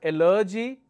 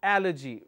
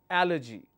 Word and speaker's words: allergy: something amazing the word is allergy it's not allergy it's allergy because I'm am stressing on the third one allergy likewise I have a word which is a